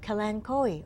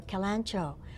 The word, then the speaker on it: kalanchoe: is a leaf of Colin Cowie or kalanchoe people pronounce it different ways some people call